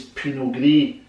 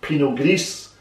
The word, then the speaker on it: Pinot Gris: This wine says Pinot Gris, that's how it's pronounced. Other people might say Pinot Gris, because they might pronounce the S at the end, but a lot of the last letters are not pronounced.